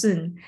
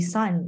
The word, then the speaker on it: Sun: pronunciation because it's actually it is soon um in Chinese and it just happened to be sun in English so I think it's